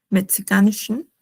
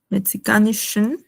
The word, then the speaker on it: Mexikanischen: Acá es SH, como mencionaba, Mexikanischen. Usualmente cuando termina en N, no se pronuncia abiertamente Mexikanischen, sino Mexikanischen. Es como que cerrando un poco más la boca. O sea, más o menos como perfeccionando la pronunciación.